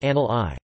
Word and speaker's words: Anglii: For example, Angli, genitive etc. of Anglia, England, is pronounced anal I. The spelling Angli, very frequently met with on the internet, is simply an error in orthography caused by this pronunciation.